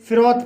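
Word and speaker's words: froth: उच्चारण था होता है जैसे फ फिरो शब्द के अंत में टी एच आया है इसलिए टी एच का उच्चारण था हुआ है इसलिए इसे फ्रोथ पढ़ा जाता है तरह से ग्रोथ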